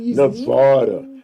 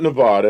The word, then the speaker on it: Nevada: And the other one is Nevada. Nevada. And it's not Nevada. It's Nevada.